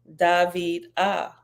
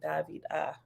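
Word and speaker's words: Dhviydah: means beloved is pronounced David ah okay David ah okay David ah with the emphasis on the second syllable okay behold I was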